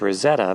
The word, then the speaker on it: Roseto: the south end of Rosetto pronounced Rosetta by its residents since the church sits